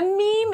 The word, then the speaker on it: meme: me what a m m'am me m a meme is I know it's spelled Mimi I call it Mimi um but a meme is and you know